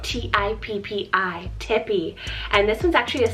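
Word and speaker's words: Tippi: And for another T option, we have Tippy, spelled T-I-P-P-I, Tippy.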